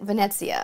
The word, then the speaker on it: Venezia: Marion said, you say the T that isn't there. Ah, Venezia. Venezia. Did I get it right, Drew?